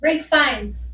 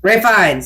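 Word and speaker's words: Ralph Fiennes: last name I can never pronounce. Tell me. Ray Fines. Ray Fines.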